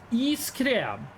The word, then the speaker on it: iskrem: I love iskrem. Wait, iskrem. That is pretty much how you pronounce ice cream in Norwegian.